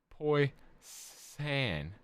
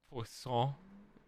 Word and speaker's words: poisson: Poisson rhymes with sing song.